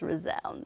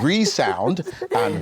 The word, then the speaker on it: Resound: never been asked before how do you pronounce razon well you know actually I know you've been asked that I know you've been asked that because it's resound resound yeah so what other